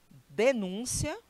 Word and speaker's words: denúncia: Denúncia, que é o substantivo, e denuncia, que é o verbo. Veja que eles são iguaizinhos, só muda às vezes até uma acentuação, mas a pronúncia é completamente diferente.